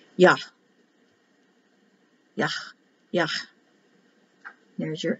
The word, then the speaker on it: Yah: When they double the H, it's pronounced harder. Yah.